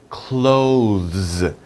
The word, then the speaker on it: clothes: Close the door. That's easy, right? Close the door. This is the same pronunciation.